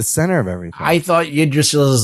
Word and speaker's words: Yggdrasil: How do you say that fucking Yggdrasil. Yggdrasil.